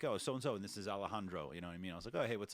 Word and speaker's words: Alejandro: an American well and I have to act like I got an accent when I say his name it's weird yeah I